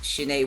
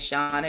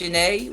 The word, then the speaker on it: Shanae: exactly as you said that's my actual name is pronounced shinai i definitely get shane and shauna it's okay it's a conversation piece i just correct you some people see the accent some people don't but it's pronounced shanae right and that's my